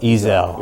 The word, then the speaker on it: Ezell: Ezell.